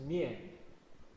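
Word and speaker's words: 面: Pronunciation is mian, face or facial.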